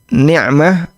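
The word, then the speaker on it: نعمة: Tulisannya mirip, bacanya juga mirip. Dan hati-hati kalau salah baca. Allahumma inna nas'aluka niqmatak. Ya Allah, aku memohon azabmu. Ini kalau dibaca nikmah dia baca qof. Ada nikmah, ada niqmah.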